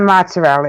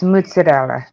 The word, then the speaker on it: mozzarella: you saying it's mozzarella it's not mozzarella it's mozzarella and so that's the right way to say mozzarella and so a lot